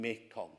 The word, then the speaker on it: Mekong: And most dramatically, the central river of Southeast Asia is renamed Marganga, or in the Khmer pronunciation, Mekong.